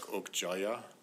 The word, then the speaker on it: Okja: You noticed how Okja and Mija, the name of the young girl, in the Korean pronunciations, it was something like Okjaya and Mijaya.